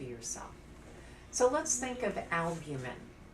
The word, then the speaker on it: albumin: so let's think of albumin albumin has three syllables in instead of it